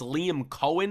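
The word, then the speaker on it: Liam Coen: It's Liam Cohen, I believe is how you pronounce his name.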